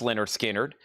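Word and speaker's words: Lynyrd Skynyrd: And then Leonard Skard, which is pronounced Leonard Skard, another analog production 2 LP 45 RPM.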